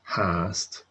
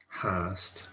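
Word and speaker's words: fhathast: of the three main exceptions where FH is pronounced with an H sound. So FH is almost always silent, with the exceptions being hast, hwyr, and hein. So mi hein, FH is an H. Hast, still or yet, is hast with an H,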